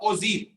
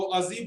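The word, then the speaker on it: ogive: बोल रहा हूं अगिव लिखा है, इज a pronounce of ओजीव, OJEEV आपके बुक में लिखा हुआ है। तो अजीब बोलिए या अगीब बोलिए, मत ये बोलना प्रोनाउंसिएशन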